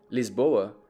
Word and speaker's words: Lisboa: Lisboa, which is how it's pronounced in Portuguese, is a mix of at least 6 different cities from around the world.